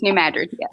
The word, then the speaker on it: New Madrid: to say it right because it looks like madrid yes it does and it's madrid right yes new madrid yeah new madrid okay